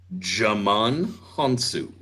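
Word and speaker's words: Djimon Hounsou: Hey, He's the D is silent.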